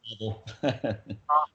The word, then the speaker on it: Pavel: Yeah, just say Pavel.